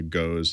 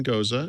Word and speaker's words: Gose: I think I said to her, I'll try the goes, and she said, "Okay, one goza, and you." Kinda, I'm sorry, gotta Paul. That's just not correct pronounced. me, Yeah, no, you got that wrong.